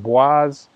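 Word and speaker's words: boisé: add something called uh I think it's pronounced Waze it's spelt like Boise Idaho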